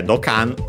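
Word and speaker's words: ドッカン: Yeah, Dokkan means, actually check its accent, by the way. Yeah, the accent is on the K, as expected, considering the sound.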